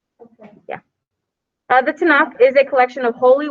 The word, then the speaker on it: Tanakh: I might say the name of this wrong. The Tanakh. I think that's how you say it. No, the Tanakh. No, it goes down and up. Okay. Yeah. The Tanakh is a collection of